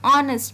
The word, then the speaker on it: honest: An honest man, here also h silent, an honest man.